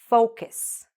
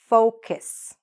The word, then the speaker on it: focus: Say it after me, focus. Now, why am I saying this is a very important word? Because if you mispronounce this word, actually it can sound a little bit like that F word, which we don't want